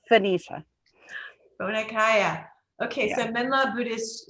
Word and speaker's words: Phoenicia: We called it Phoenica when I was growing up. But it's Phoenicia.